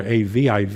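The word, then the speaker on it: Aviv: it'll have a I you know but but phonetically in Hebrew it's more AV IV is is is how it would be correctly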